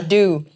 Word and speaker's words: Abdo: Not once did you pronounce my name right. I got it right Kate after. Abdo.